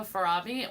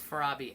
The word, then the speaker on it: Farabi: But like Francesco Farabi, when I look at his work, I know it's his.